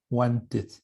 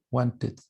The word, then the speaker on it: wanted: Want tiene esta pronunciación. Wanted. Wanted. I wanted to be a doctor.